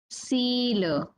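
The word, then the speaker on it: sīla: Examples are sila, sila. Sila, we all know, which means virtue or morality. Even the precepts that we keep, that is called as sila. So the pronunciation of this word is sila.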